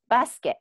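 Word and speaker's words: バスケット: In the basketball one, is the U silent? It's again silent. Okay. Yes. So I think sometimes those like U sound becomes really, really light. Okay. It depends where the sound kind of shows up, you know?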